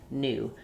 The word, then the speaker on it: new: It's called yod dropping, and we've dropped it before the N, the T, the Z, the D. So we don't say Tuesday, we say Tuesday. We don't say YouTube or duty, we just say duty, new. So in US English, just the N and the oo there in new.